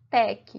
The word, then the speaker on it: TeX: surgiu latc o latc ele originou do sistema Tech que foi fundado né criado pelo cientista Donald